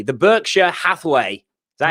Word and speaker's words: Berkshire Hathaway: So if I pronounce this correctly, the Berkshire Hathaway, is that how you say it?